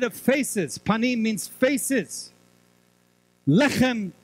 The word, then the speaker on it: Lechem: Lechem can also be pronounced as Lachem.